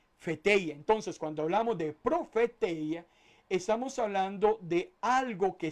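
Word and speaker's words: προφητεία: Ahora, cuando hablamos de profecía, profecía viene de una palabra griega que se escribe o se podría pronunciar como profeteia.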